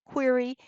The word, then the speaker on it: query: query the database remember you say it like queer e query and it means question